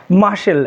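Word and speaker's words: muscle: তাহলে এখানে আমরা দুটো এক্সাম্পল হিসেবে দেখি যে example মাসেল এজ for example মাসেল আই রট the word মাসেল আমি কিন্তু এখানে ওয়ার্ডটা মাসেল রেখেছি মাসেল লিখেছি এম ইউ এস সি এলই তাহলে এখানে দেখতে পাচ্ছি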